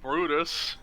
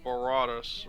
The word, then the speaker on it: Baratus: If it can't be as worse as my former friend calling me Brutus. Barutas. Brutus. Okay. Yeah. So yeah, the correct way I would pronounce it is Baratus or Yeah. Baratus as well.